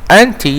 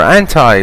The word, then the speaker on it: anti: Number 5, anti or anti, both are correct, both pronunciations are correct.